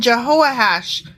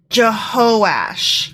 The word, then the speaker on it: Jehoash: Then his son Jehoahash became Jehoahash? Jehoahaz. Went from Jehoahaz to Jehoahash? No, you know what? I apologize. I mispronounced that. It's Jehoash.